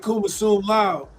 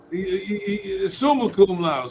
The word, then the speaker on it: summa cum laude: Here you go, my son graduate cum laude. Summa cum laude.